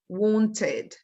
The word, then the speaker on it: wanted: we have it in the past we say wanted wanted needed needed as you can see needed